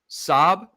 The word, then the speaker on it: Szoboszlai: life of me so the pronunciation of the name the disease are silent you drop the Z's they're just there okay it's Saab like this is how David O'Connell wrote it in his article Saab boss lie sabaslai but